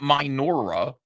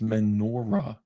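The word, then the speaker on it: menorah: It's menora. It's spelled like this.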